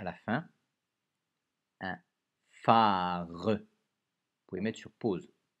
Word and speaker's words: phare: Un phare. Un phare. Vous avez la fiche pour le f. Un phare. Lettre muette à la fin. Un phare.